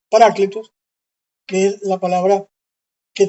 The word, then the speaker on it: paráclito: viene la el término paráclito así como se pronuncia paráclito que es la palabra Que traduce malamente Reina